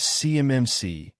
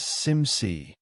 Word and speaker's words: CMMC: She mispronounced CMMC framework as CMMC, letter by letter. Anyone who's actually worked with it says SIMC.